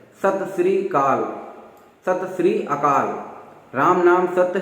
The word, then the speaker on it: सत श्री अकाल: किसी से मिलता है कहते हैं सत श्री काल, ऐसा जो भी सुन में आता है, लेकिन उसका जो सही उच्चारण आपने देखा भी होगा, सत श्री अकाल।